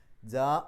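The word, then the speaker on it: جاء: ജാ എന്ന് പറയുമ്പോൾ അവിടെ നീട്ടലും ഹംസയും അടുത്തടുത്താണെന്ന് മാത്രമല്ല, ഒരേ പദത്തിൻ്റെ ഉള്ളിലാണ്. ഒരേ പദത്തിൻ്റെ ഉള്ളിൽ മദ്ദും ഹംസയും, നീട്ടലും ഹംസയും അടുത്തടുത്ത് വന്നാൽ നിർബന്ധമായും 4-5 അക്ഷരങ്ങളുടെ ദൈർഘ്യം നീട്ടണം.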